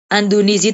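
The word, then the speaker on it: اندونزی: Andunizi itu Indonesia. Jadi bukan Indonesia.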